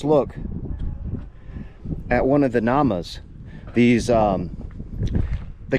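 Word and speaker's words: gnamas: And you'll see that there's one of these pan holes, granite pan holes or namas. Um depending on your geographical location, you may also pronounce the G.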